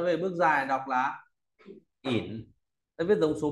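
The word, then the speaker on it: 廴: Tiếp theo là có bộ dẫn nói về bước dài, đọc là ỉn.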